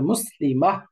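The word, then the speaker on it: مسلمة: ওই জন্য পড়তে হবে মুসলিমাহ, মুসলিমাহ, মুসলিমাহ, এরকম হবে। রাদিয়াতিন, ওয়াকফ করলে রাদিয়াহ, বাদ, রাদিয়াহ, মোটা করে রাদিয়াহ।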